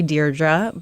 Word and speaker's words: Deirdre: I just always put it in there just in case somebody did say Deirdre. It's definitely Deirdre.